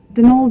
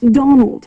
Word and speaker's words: Donal: That was the caretaker, Denal Delaney. Not Donald, mind you. There's no D at the end, so it's pronounced Dol.